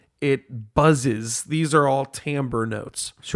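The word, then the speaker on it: timbre: Uh tambber often mispronounced as timber. Tim or Tim. Timbra t i m r e, but it's pronounced tambber.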